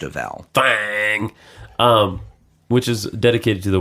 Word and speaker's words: Thang: Thang. Rhymes with thong. Actually, it doesn't. No. It should. It looks like thong. But it's not. If you changed a vowel. Thang.